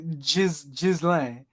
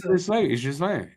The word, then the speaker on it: Ghislain: on the highway, the Jizz lane? I don't know. Oh, fuck. Funny enough, when Ghislain taught me how to say his name, he did say Ghislain. Well, I mean, it's Ghislain. Yeah.